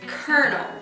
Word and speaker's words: colonel: everything about how difficult and the word is Colonel criminal you pronounce it colonel but it has no argument in itself be of L in p.m.